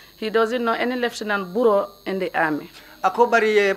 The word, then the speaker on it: Barrow: ko wolem Lieutenant Basiru Baroti. Yeah, but the way they pronounced the Barrow was not correct. So he told them that he doesn't know any Lieutenant Barrow in the army.